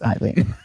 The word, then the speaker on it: Aileen: Oh, is it Aileen? It's Eileen. But it's spelled with A-I.